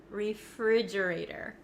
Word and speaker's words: refrigerator: don't think it is listen to how I pronounce it refrigerator refrigerator refrigerator now the ater the T at the end of this word it becomes a flap T in American English that means it kind of sounds like a soft D